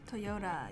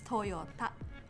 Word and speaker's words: Toyota: Toyota, yes. In Japanese, it's Toyota. So it's not Toyota, but Toyota. You're emphasizing the T. The T, yes. So it was actually Toyota at first.